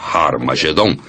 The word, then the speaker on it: Harmagedon: som aspirado no início, que significa que era pronunciada com H. Originalmente era Harmagedon, e é muito fácil passar de Har Megido para Harmagedon.